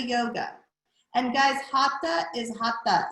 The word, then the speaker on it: hatha: we say sanskrit sanskrit that the h isn't pronounced the same way it's pronounced in in